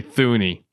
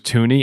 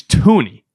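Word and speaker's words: Thuney: been so an annoy listening to people say thy because I used to do it and then I realized it was tuny and one of my pet peeves in sports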